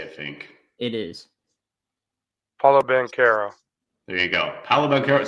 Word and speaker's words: Paolo Banchero: Paolo Banchero, and that is how you say it, Fink. It is. Paulo Banchero.